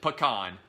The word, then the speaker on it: pecan: on pecan pie and you pronounce it pecan not pecan all right I love